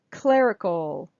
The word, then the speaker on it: clerical: and this one's similar clerical clerical clerical so this ER is air air it's that R diphthong air air clerical clerical clerical